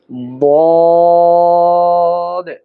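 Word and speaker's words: ض: জিহ্বার কিনারা উপরের মাড়ির দাঁতের গোড়ার সঙ্গে লাগিয়ে এর উচ্চারণ করতে হবে। যেমন আমরা উচ্চারণ করি বদ, বদ, বদ।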